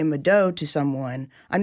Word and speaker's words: mvto: Mado. So it's pronounced kind of like a U.